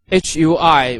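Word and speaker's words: 会: as one character so the pinion is Hui which pronounce so H pronounce h and UI pronounce way with the four tone which goes from up to down it is with a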